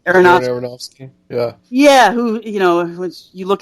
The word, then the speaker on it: Aronofsky: of story, I watched Noah, how do you pronounce his name? Aronofsky. Aronofsky.